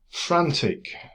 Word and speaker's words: Frant1c: excellent prog for you frantic uh I know it's spelled with a one but I'm going to pronounce it you know the ey is a one is an ie or vice versa anyway frantic right so uh it's not